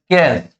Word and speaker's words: Caius: Just minute, ये spelling नहीं थी शायद, CAIUS। चलिए, CAIUS कैस, ठीक है ना, ये नाम था इसका पीजेंट का।